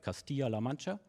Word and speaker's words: Castilla-La Mancha: researcher at the University of, I hope I pronounce it right, Castilla-La Mancha.